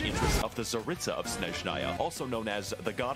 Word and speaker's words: Snezhnaya: The Fatui of Snezhnaya are heavily armed diplomats. Snezhnaya. Correct way to pronounce it is Snezhnaya, which is a Russian word for snowy.